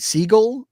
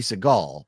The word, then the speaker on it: Siegel: And it's also going to have Kate Siegel, who I don't remember what I know her from, but I do. That's his wife. Kate Siegel. Yeah, not Katie Seagal, but. Am I getting the name wrong?